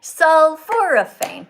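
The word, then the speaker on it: sulforaphane: sulforophane. Okay. Let's do it. Look. Sulphurane. Four syllables.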